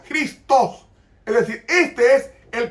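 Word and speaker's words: Χριστός: se traslitera cristos y se pronuncia con jotas cristos es decir este es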